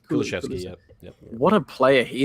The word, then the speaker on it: Kulusevski: Kulusevski. Kulusevski, yep.